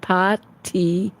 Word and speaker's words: Patsy: It's pronounced Patsy.